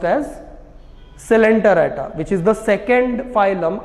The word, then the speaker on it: Coelenterata: Coelenterata नहीं है ये, it is pronounced as Coelenterata, which is the second phylum after Porifera if you go by sequence in kingdom Animalia, lower animals.